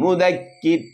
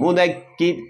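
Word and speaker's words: مُدَّكِرْ: മുദക്കിർ എന്ന് ഓതണം, മുദക്കിർ എന്ന് ഓതണം. ശരിയായോ? കാരണം ഇവിടെ മുദക്കിറുൻ എന്നാണ് ഉള്ളത്, പക്ഷെ നമ്മൾ ഓത്ത് നിർത്താണ്, വഖഫ് ചെയ്യാണ്. അപ്പൊ റായിന് സുക്കൂന് വന്നു.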